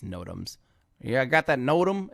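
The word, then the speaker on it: NOTAM: we're working on it film crew tech it's pronounced nodum yes i know and i know this but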